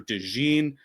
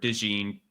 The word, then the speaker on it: DeJean: Anybody who is down on Cooper DeJean, he should pronounce it DeJean. I feel like DeJean makes it sound like a mustard, but like DeJean gives it like class. But DeJean is the mustard, like Dijon mustard.